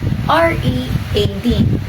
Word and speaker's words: read: The past tense of read is still spelled R-E-A-D, but it's pronounced read. Confusing, right? Because read is a past tense of reading and red is a color.